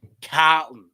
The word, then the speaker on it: Carlton: It's Carlton, all right? You got to say it in the back. You have to say it in the back of your throat.